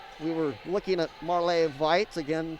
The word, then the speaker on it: Veit: Now, I forgot that we were looking at Marley Veit. Again, she is a young lady, a junior out of Germany, so that's the pronunciation of her name.